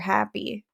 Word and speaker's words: Happe: Happy, and it was Happe, but he pronounced it Mr. Happy, and he was an amazing science teacher.